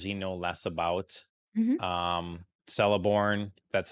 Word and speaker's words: Celeborn: of the characters he know less about um celeborn that's how you say his name um i